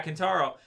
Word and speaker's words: Kentaro: Yeah, Kentaro.